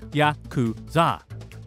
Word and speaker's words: Yakuza: The name Yakuza comes from the Japanese card game Oichokabu, in which the worst hand you could possibly get is 893, pronounced in Japanese as Yakuza.